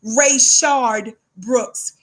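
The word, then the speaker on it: Rayshard Brooks: important that we say his name Rashard Brooks ray shard Brooks ray shard Brooks our brother watch this our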